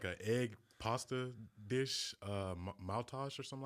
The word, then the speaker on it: Maultaschen: It's like an egg pasta dish, Maultasch or something like that. Maultaschen.